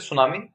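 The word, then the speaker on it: tsunami: सो for this first is सुनामी, टी is silent here.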